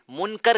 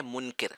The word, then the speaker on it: منکر: جی صرف تھوڑی سی مسٹیک ہے تلفظ میں، منکر کہا یہ ہے منکر.